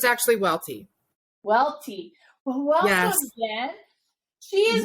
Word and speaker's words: Welte: with me i have jen with me jen welt did i pronounce that right it's actually welty welty welcome again she is one of our